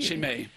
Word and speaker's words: Chimay: pronounce it? Chimay? Chimay.